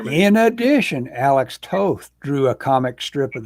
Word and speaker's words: Toth: a bit toth toth how would you pronounce that it's tough toth definitely right well that's what barry says and barry's met him oh barry okay yeah